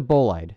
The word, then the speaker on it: bolide: remember it it's the best shot it's a bolide that's how it's pronounced and ebola ebolite is a is a